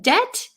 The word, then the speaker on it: debt: I'm so tired yes in debt the B is silent thank you I I